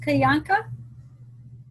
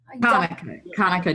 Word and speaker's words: Hanukkah: Yeah, I think that'd be is it pronounced Kayanka? Hanukkah, just like Monica. Okay, Monica. Thank you. Hanukkah, yeah.